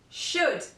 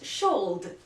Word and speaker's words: should: knock knowledge letter L this letter is usually silent after the vowels a oh and you for example calf should yes not sholde should would half all right